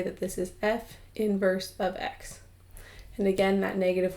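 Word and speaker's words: f⁻¹(x): for naming the inverse so the way we pronounce this is we say that this is f inverse of x and again that negative 1 is not an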